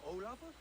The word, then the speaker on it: Olav: That was Olav? Hey, he actually pronounced it correctly.